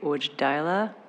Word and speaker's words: Wojdyla: Matthew Ujdaila, and apologies if I got your name pronounced incorrectly. Thank you. Hello, my name is Matthew Voidilla, Medical Director for Sobi, Inc.